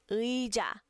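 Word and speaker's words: 의자: Ui, ui, ui, já, ui, sa.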